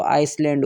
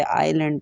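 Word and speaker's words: island: For example S के साथ अगर हम पढ़ें तो आइसलैंड होगा, लेकिन हम आइसलैंड नहीं पढ़ते, आइलैंड पढ़ते हैं, तो एस हमारा साइलेंट होता है।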